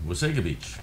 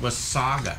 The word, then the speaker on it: Wasaga Beach: of the locals say wasega beach part in nautical saga bay and people would take it upon themselves to phone into the tv stations like it was saga not was sega but anyway just like